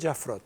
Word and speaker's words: Jaffrot: Primero porque voy a hablar con Emmanuel Jaffrot. ¿Pronuncié bien?